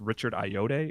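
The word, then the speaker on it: Richard Ayoade: to see it was it's Richard ayode is how you pronounce his name for my team I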